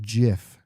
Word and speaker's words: GIF: it said it's pronounced Jif the guy that designed it and made the term even though the peanut butter is spelled with a J calls it Jiff what do you call